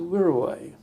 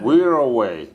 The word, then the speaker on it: Wirraway: the next model of aeroplane, which was a Wirraway. What was it? A Wirraway. Could you spell it? W-I-R-R-A. W? W-I-R-R. Double R. A-W-A-Y. A-W-A-Y. Yeah, I think that's how. Wirraway.